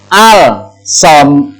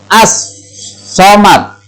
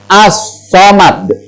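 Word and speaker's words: الصمد: Jadi membacanya bukan al-somad, al-somad, al-somad, tapi harus masuk ke huruf. Makanya al-samsiah disebut juga dengan idgham. Idgham itu artinya memasukkan, ya, ke huruf samsiah. Hurufnya apa? Kalau nun, ya nunnya yang double. Kalau shad, ya shadnya yang double. Jadi membacanya yang betul adalah as-somad.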